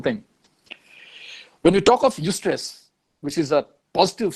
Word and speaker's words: eustress: One is called eustress, where E is silent here.